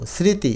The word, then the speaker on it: স্মৃতি: মফলা অনুচ্চারিত থাকে অর্থাৎ শুরুতেই যদি ম ফলা থাকে সেটার উচ্চারণ হয় না দেখ এটা শ্রীতি না কিন্তু স্মৃতি অর্থাৎ ম এর উচ্চারণ হয় নাই।